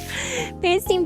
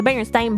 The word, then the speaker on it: Berenstain: Berenstain Bears is a super easy one to explain too. It's pronounced Steen.